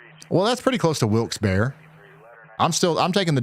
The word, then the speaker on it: Wilkes-Barre: Most lifelong locals pronounce it Wilkes-Barre. Well, that's pretty close to Wilkes-Barre.